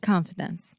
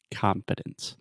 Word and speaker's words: confidence: get into the meat and potatoes is the pronunciation of the word confidence confidence yeah the first sound that is the I sound just like shot confidence confidence at least in American English that's the